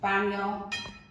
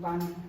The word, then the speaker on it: baño: Alright, so baño. That's how they say it in Spanish, baño.